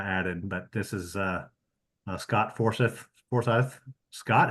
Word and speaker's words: Forsyth: That's a copy of Paul's slide with a poor addition to the bottom that I added, but this is Scott Forsyth. Scott, how do you pronounce that?